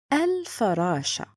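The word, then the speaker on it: الفراشة: Third point, it's written and spoken. I'm gonna say al-farasha. Al-farasha. So written and pronounced.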